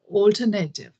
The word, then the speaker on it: alternative: But in India, I think wherever I've heard, wherever I've heard this from, or whoever I've heard this from, they say alternative, alternative.